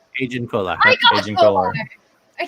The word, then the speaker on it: Agen Kolar: Sassy Teen, or Saucy Teen, however you're gonna pronounce it, and then Agen Kolar. Agen Kolar.